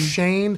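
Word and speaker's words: Schoen: shane right joe shane spelled shone pronounced shane him and dabo straight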